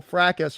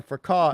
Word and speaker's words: fracas: and how that she and other kids clearly have been communicating with each other since this whole fracas or fracas, as Mm-hmm. some people pronounce it, began.